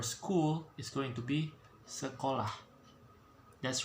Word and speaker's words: sekolah: Okay, it's a very vocal word. Okay, it got E, they got O and A on the back, so the pronunciation would sound like this: sekolah.